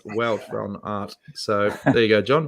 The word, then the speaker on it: Wout van Aert: It's not Wout van Aert, but Wout van Aert, pronounced Wout van Aert."